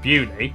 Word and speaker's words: Beaulieu: Starting in Beaulieu, Beauly, head over to Rampisham, Ransom, then down to